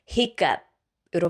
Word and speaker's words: hiccup: hiccup 발음할 때는 hiccup이라고 하지 않고 쌍기역처럼 hiccup으로 발음해 줄게요.